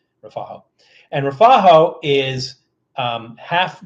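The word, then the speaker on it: refajo: drink in Columbia is something called rafo r e f a j o I think it is rafo and rafo is um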